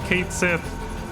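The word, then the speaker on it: Cait Sith: that that that K she was going to be pronounced Kate Sith when that Twitter post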